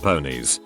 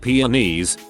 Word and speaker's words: peonies: in a story and my classmate said, "It's pronounced ponies." I looked doubtful and said, "Really? I'm pretty sure it's just peonies."